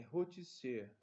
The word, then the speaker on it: rôtisserie: Pessoal, só uma pequena correção, é rôtisserie, tá? Eu pronunciei errado, eu pronunciei o tipo de estabelecimento.